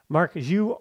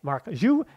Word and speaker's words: Marc Guiu: for ferine Lopez and I was told it was Mark X so this is a pronunciation correction it is Mark XU moving forward that is the Catalin pronunciation so that's what we're going with and now that I've